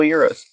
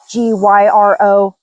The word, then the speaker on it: gyro: We didn't want to call this like a Euro smash burger, which if you're confused, it's because it's spelled G Y R O. So, it's not gyro, it's euro.